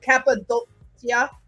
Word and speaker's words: Cappadocia: I want to get my pronunciation right. Cappadocia.